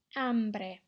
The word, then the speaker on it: hombre: last one and very making sure we're not pronouncing the H off we go Ambra hombre muy bien Chico's